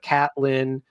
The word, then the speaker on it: Catelyn: Caitlin instead of Catelyn. Little Jeffrey. Rick, Brienne yeah. instead of Brienne. So he's mispronouncing things.